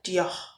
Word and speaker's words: Dior: merupakan brand Dior atau dalam bahasa Prancisnya pronunciation-nya disebut dengan Dior.